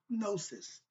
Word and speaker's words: Gnosis: It's called Gnosis, but it's spelled with Gnosis. The G is silent, like Django or Tahuti, but let's go.